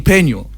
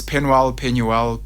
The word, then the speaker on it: Penuel: Should I say King Penuel?